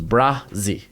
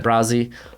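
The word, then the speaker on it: Bresee: gonna look up because i know his last name it doesn't look how it's pronounced i've been putting pronunciations for some of these names that are harder for me brazi so it's brah z so brian brazzy uh dude had a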